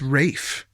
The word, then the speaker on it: Ralph: no, I'm pretty sure it's Ralph Fiennes. And then we looked it up, and it turns out it was Rafe Fiennes. And I was like, what a curveball. Would have never thought I was mispronouncing the first name.